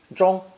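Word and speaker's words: 中: business and so on zhong is also a split sound character pronounced fourth tone troll what it means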